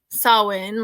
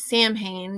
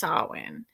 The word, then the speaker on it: Samhain: modern times saulin um a Gaelic word pronounced saw in like you know some people call it Samhain because that's how it's written but it is pronounced Sawan it is usually celebrated